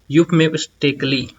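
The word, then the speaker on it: euphemistically: चलिए इसको प्रोनाउंस करते हैं, यूफमिस्टिकली। इसको बोलते हैं यूफमिस्टिकली।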